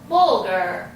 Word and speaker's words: bulgur: I'm going to find out how bulgur wheat is pronounced. Bulgur.